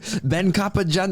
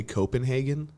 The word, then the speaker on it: Koppenjan: Yes, that is syllables. Those are words. Ben Koppenjan. Well, people would like say Copenhagen.